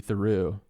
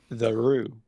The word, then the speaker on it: Theroux: Theroux. The Roo. If you're half American, half French, you'd be pronouncing it the Roo.